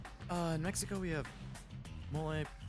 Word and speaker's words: mole: Uh, in Mexico, we have mole kind of pronounced like Ole, which is similar.